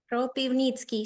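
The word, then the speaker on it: Kropyvnytskyi: Kropivnitsky city. Sure. All Kropiv. right. I'll do what I can to try and get that correct. Oh, nah, a lot of consonants. Kropivnitsky.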